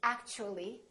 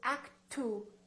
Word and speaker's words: actually: a u for example in the word actually we don't say act to we don't say act the T becomes kind of a CH sound so we say actually actually so the T and